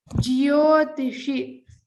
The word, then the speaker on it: ज्योतिषि: underline the mahaprana dha jyotishi lot of people tend to say jyotishi it is not jo it is jyo so remember to pronounce the yakara in this it's commonly skipped so underline this siddha